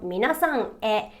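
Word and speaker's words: みなさんへ: So for example, minasan e is written with a he, but it's pronounced e. Minasan e.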